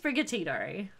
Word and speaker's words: Sprigatito: Okay, we're going with Sprigatito. Because I love all three of them. Spra. Dory! I pronounced it correctly, apparently.